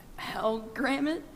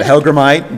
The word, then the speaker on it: hellgrammite: It's an hellgrammet, and it's a Dobson fly. Okay, that is correct for 15. The pronunciation was not how I would pronounce it, but Hellgrammite, Dobson fly, yeah.